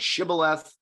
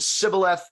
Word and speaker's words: shibboleth: with the origin of the word shibboleth right that if you if you pronounced it sibileth you were killed at the scene or at